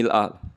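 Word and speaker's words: مِلْءَ: Nah, "mil'u" itu bid'ah. Nabi membacanya sebagai "mil'a." Semua riwayat menyebutkan bahwa Nabi membacanya sebagai "mil'a." Itulah sebabnya saya memiliki anak bernama Mil'a Tasbiha, karena Nabi selalu membaca " Rabbana lakal hamdu" dengan fathah pada hamzah di semua riwayat.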